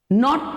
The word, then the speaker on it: knot: नॉट, नॉट. KNOT. सी K और N. Again we can see K is silent.